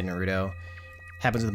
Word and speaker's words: Naruto: Yeah, I'm one of those people who emphasize the first syllable. So I say Natsuki and I say Naruto and I say Madoka.